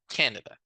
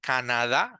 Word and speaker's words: Canada: of the country is Canada notice the pronunciation is not Canada like we do it in Spanish in English is Canada so I'm going to